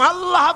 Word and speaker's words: আল্লাহ: আল্লাহ পাকের উচ্চারণটা হচ্ছে, আল্লাহ পাকের নামের উচ্চারণ হচ্ছে আল্লাহ। মুখটা একটু গোল হয়ে যাবে, বলেন আল্লাহ আল্লাহ সুবহানাল্লাহ।